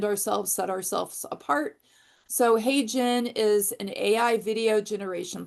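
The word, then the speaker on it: HeyGen: And then my third one is Hey Jen, which is spelled H E Y Gen.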